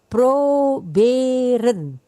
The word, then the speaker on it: proberen: Ini ada kata suku katanya 3. Ini satu kata terdiri dari 3 suku kata. Dia tidak ditutup oleh huruf mati, maka dibacanya 2 o. Pro 2 b ren. Sedangkan ren itu tidak mendapat tekanan ya. Jadi proberen. Ulang Pak, proberen.